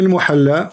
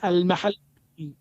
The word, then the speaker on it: al-Mahalli: Jalaluddin al-Muhalla wa Jalaluddin al-Suyuti. wrong. It is not al-muhalla. What it is? You don't understand. What it is? It is al-mahalli.